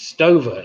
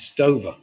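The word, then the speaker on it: Stöve: i thought it was i thought it was stover used to be pronounced stover but when you do the research it comes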